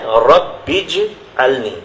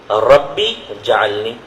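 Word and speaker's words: رب اجعلني: تو پہلی چیز تو اس میں دیکھیں ہے رب اجعلنی، صحیح تلفظ یہ ہے. مجھے بڑی حیرت ہوتی ہے کہ بعض اہل علم کا تلفظ اس میں غلط ہے. ربی جعلنی، جیم پہ زبر کر کے پڑھتے ہیں، ربی جعلنی.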